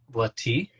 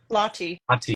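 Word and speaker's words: Lahti: I mean, by the way, congratulations on the Ironman World Championships at how do I pronounce it? Is it Lati? Lottie.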